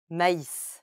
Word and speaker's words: maïs: Whenever this accent appears above a letter, it indicates that you must pronounce this letter separately from the preceding syllable. For example, Naïve, Noël, maïs.